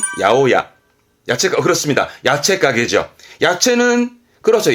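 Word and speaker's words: 八百屋: 발음은 야오야. 그렇습니다. 야채 가게죠. 야채는, 그렇죠. 야사이. 그러면 야채 가게는 야사이야가 아니라 야오야.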